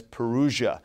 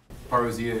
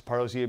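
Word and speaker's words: παρουσία: arrival is and I've heard some English speakers pronounce this as perua which I suppose it looks like but come on know your Greek people and so yes paria and Advent Advent the Latin um Advent would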